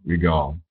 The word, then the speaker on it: regard: le i typiquement anglais ensuite l'apostrophe vous indique la syllabe qui est accentué donc c'est God qui est accentu God regard regard une autre expression c'est